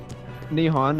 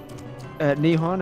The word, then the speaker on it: Nihon: Nihon, as in how we've pronounced Boom! Japan. Say that again. Nihon, as in the way we've pronounced Japan.